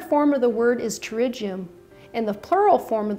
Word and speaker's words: pterygium: I'd like to talk about a common growth on the eye called a pterygium, which is spelled with a silent P. The singular form of the word is pterygium, and the plural form of the word is pterygia.